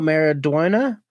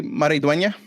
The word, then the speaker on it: Maridueña: Zolo Maraduena. Nope, How, Solo. there we go. How do you say his last name too? Probably Maridueña.